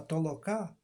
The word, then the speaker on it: толока: тобто Ера істини а толока безпромінним наголосом на останній літері А що означає гуртову працю